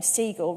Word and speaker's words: Siegle: And they were like, oh, your surname, Siegle, rhymes with regal, and we're doing a thing at Buckingham Palace, so could you be the royal correspondent?